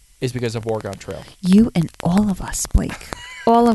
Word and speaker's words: Oregon: No wonder everyone says it wrong. If you're from Oregon, I'm sorry. Oregon. It's Oregon.